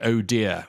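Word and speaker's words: ODIHR: the acronym ODHR which they actually pronounce it sounds like o dear when they pronounce it but they are the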